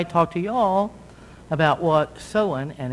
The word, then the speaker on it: Samhain: so before i talk to y'all about what so on and it's pronounced so and though it's spelled samhain means